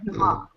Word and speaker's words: Dumas: It's pronounced Dumas.